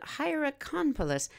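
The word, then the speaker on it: Hierakonpolis: Cobb along with a city called hieracompolis oh let's spell that h-i-e-r-a-k-o-n-p-o-l-i-s there's the beginning of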